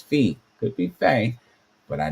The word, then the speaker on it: phi: started from the beginning, the pronunciation is supposed to be F-E-E, which I would think that says phi.